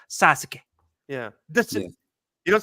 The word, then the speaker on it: Sasuke: Like when like the name, there's the name Sasuke is how it's spelled, but they always they swallow that U. It's always Sasuke.